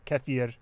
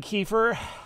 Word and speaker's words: kefir: coming back to america we call it kefir but oh you mean kiefer it's like yeah if you want to say it wrong sure oh my